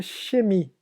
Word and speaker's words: Chemie: Esse CH é bem parecido com o nosso som do CH, que parece um X, então chemie. Então, no alemão, especificamente essa palavra, o CH tem o som de chemie.